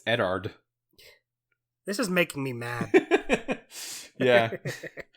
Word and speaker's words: Eddard: yeah just not quite eddard Stark is not Edward Stark it's eddard he's making me mad